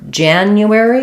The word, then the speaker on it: January: some help here so for January we have first syllable stress so Jan it's the J sound it's the a black cat vowel so Jan and then in this case letter U says U so not just the u sound but a